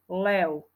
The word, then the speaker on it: lev: u nie zviera lev píšeme na konci z v ale čítame tam u lev napríklad Ďalšie slovo spev